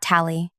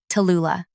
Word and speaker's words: Tula: Not Tally, not Lou, Tula. The full three syllables demand attention, much like I do.